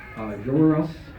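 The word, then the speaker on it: Joruus: Jorus, the kind of a stutter on the W for the clone.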